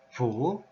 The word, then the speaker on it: 乀: The Chinese pronunciation is fu.